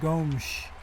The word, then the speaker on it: Gomes: And you notice how I said Gomes. He's from Brazil. Brazil, they speak Portuguese. In Portuguese, and I learned this from following European soccer, the S is pronounced with a sh. So it's Gomes.